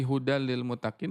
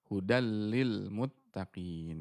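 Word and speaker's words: هدى للمتقين: Koreksinya di hudal lil mutakin, hati-hati jangan terlalu lama ya, di lamnya hudal lil, langsung hudal lil muttaqin begitu ya.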